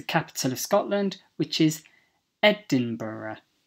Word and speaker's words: Edinburgh: word is the capital of Scotland which is Edinburgh Edinburgh Edinburgh the eighth is coalition coalition the ninth is